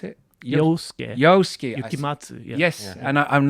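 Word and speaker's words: Yosuke Yukimatsu: Yes, and is that how you pronounce it? Yosuke. Yukimatsu.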